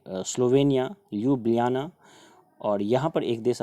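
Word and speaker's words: Ljubljana: ल्यूब्लियाना, इसको बोलते हैं ल्यूब्लियाना। यहाँ पर जे जैसा आपको दिख रहा है, लेकिन इसका प्रोनाउंसिएशन जो है ल्यूब्लियाना ही पढ़ा जाता है।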